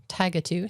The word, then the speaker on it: Tigatu: So when you left Everett to come this way was Tigatu.